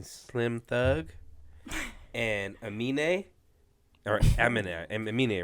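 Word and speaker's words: Aminé: Or Amine, right? That's how you pronounce it? Yeah, Amine.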